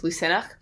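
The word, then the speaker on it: Lughnasadh: llamas is the christian name but the irish pronunciation is lucenach which is spelled differently so it's l u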